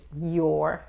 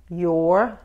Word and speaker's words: your: Otra vez, la Y aquí en inglés no se juntan los dientes, es your. Los dientes no se tocan, ¿ok? Y el sonido viene de aquí. Y enfóquense en la R, your, para pronunciar la R. Lo único que tienes que hacer es hacer un círculo con los labios. La lengua no toca nada, ¿ok? Y el esfuerzo viene de la boca.